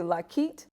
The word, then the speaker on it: Lockheed: the first hold on you say locket yes meaning the h is silent it's just lucky there's no h okay yeah i like